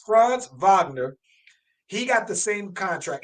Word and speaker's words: Wagner: Franz Wagner, and I think he's German, so I always got to pronounce some W's as V's. Franz Wagner, he got the same contract, and it's the rookie contract.